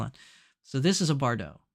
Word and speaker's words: Bardot: theh shoulder neckline is called BAU is it Bardot or BAU oh the tea is silent okay I I should have continued reading uh so it's the off thee shoulder neckline is called a BAU so this is a BAU is that what